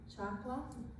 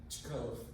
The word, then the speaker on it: Chakov: And, excuse me, our members are Mike Murphy, Chakla. Did I say it right? Say your last name. Chakov. Chakov.